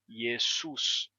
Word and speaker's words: Iesus: mudar da seguinte maneira você vai ter esse som do S Entre vogais que vai se sonorizar o s vai terminar sendo pronunciado como Z yesus yesus yesus Jesus Jesus